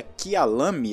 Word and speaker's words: Kyalami: Seria Kialami, acredito eu, a pronúncia certa.